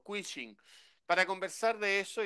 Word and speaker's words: Quishing: q y el fishing que es el quing bien pronunciado la ch ahí como los gringos quing para conversar de eso